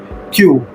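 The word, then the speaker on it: queue: कतार पंक्ति होता है लेकिन ये लंबा वर्ड है लेकिन इसमें जो प्रोनाउंसिएशन उच्चारण है एक वर्ड का क्यू का है सिर्फ लेकिन कितना लंबा बोला गया है ऐसे एक वर्ड है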